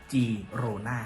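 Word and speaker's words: Girona: แต่ สรุป ก็ คือ g i r o n a ออก เสียง ว่า G โรน่า ครับ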